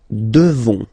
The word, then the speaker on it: devons: Nous devons. Okay, classic ending ONS for nous. Okay, you just pronounce this on, this nasal. Okay, and then the S, final S is not pronounced.